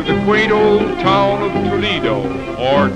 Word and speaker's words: Toledo: quaint old town of Toledo, or Toledo, as it is pronounced by the Spaniards.